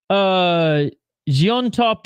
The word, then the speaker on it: Llontop: Pronounced Jiontop in Spanish. It's a Quechuan last name. The double L's are pronounced as G and J.